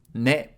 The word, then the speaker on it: ね: and a little loop ね is pronounced like ‘ne’ in ‘Nelly’ This is Nelly the